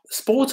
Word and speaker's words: sport: سبورت بلا ار، هذيك ار ما كتنطقش.